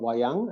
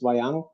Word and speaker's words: wayang: shadow puppet theater called wayang, I think, that's how it's pronounced, and it's used for communicating philosophical and moral teachings.